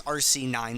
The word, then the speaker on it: RCIX: of pronouncing his name it's uh it's rc9 the IX is Roman numeral uh rc9 plays a